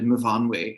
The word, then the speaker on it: Myfanwy: And then some Welsh people are like, it's actually Myfanwy. And I'm like, not in this, it isn't. I'm sorry, she's going to mispronounce her own name.